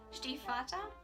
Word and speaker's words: Stiefvater: Raven cycle by Maggie Stiefvater now I know that's how you pronounce the name in English but the words do